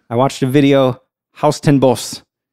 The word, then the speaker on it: Huis Ten Bosch: So when I first saw it, I'm like, Huis ten Bosch? I don't know how it's pronounced in Dutch, but right. I watched a video. Haus ten Bos is how it's pronounced in Japanese.